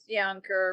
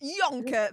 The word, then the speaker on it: Juncker: Well, it's Yonker, but it's okay. I tried my best. Yonker, there you go.